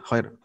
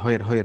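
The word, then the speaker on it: خير: Kadang-kadang memang begini, kita itu rada-rada males ya ngomong kha itu. Kan soalnya harus ada gitu. Jadi ho gitu. Misalnya mengatakan khair. Jadi khair. Jadi pakai hak aja, hoir gitu.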